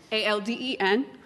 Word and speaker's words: Alden: Alden, A-L-D-E-N, Alden. Last name is. It's Greek. It's spelled clean like you clean your house, and then T-H-E-S.